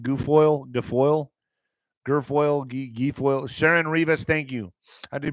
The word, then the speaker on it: Guilfoyle: Guilfoyle.